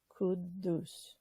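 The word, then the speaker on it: Quddus: for that today and the kudus is spelled q as in queen u d as in david d as in david u s as in sam could do and this is really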